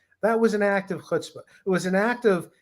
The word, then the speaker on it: chutzpah: it's pronounced multiple ways chutzpah the ch is depending on uh where you are it can ch in the word character sounds like a hard k in the word uh